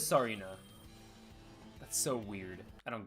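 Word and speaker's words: Tsareena: Or Tsarina? Sarina? Is it Sarina? I don't know how to pronounce it. T is, so it is Sarina.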